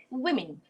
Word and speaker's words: women: This should be w, I, I. We learned it the other day. It should be read as women.